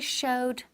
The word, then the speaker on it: showed: Now the pronunciation, muy importante, very important, at the end. Tengo que escuchar, tengo que oír la D. Okay, showed, showed. Not show, pero showed. Ahí es el pasado simple.